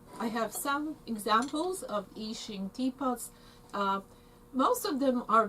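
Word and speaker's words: Yixing: to spell that um eachine spelled y-i-x-i-n-g of course that's uh americanized um um spelling that's not how it's written in chinese ishing ishing ishing teapots are made from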